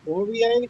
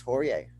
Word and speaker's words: Poirier: It's definitely calling him Poirier. It's Poirier. Poirier. No, it's Poirier. Oh. Anyway, because of the IE at the end, I believe that's how it's pronounced.